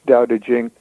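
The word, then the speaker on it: Tao Te Ching: it it's it's called it looks like cow taking but usually it's pronounced daodejing mmm and in the West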